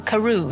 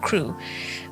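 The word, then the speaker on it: Crewe: difference in the name Madame Pascal pronounced it as if it were Karu instead of crew but that might be merely a matter of pronunciation the circumstances were curiously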